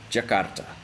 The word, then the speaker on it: Jakarta: in Indonesian for example I'm going to say Jakarta Jakarta try to spell out Jakarta in Indonesia